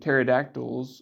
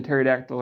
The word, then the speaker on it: pterodactyl: And the chicken and the pterodactyl are third cousins 4 times removed, or something like that. While we're here, why can't you hear a pterodactyl go to the bathroom? Because the P is silent.